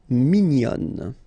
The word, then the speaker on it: mignon: And then another example, mignon will become mignonne. Okay, same thing here, nasal, mignon, and then when you put the feminine form, mignonne. Okay, so let's see the meaning. So, bon, and then mignon.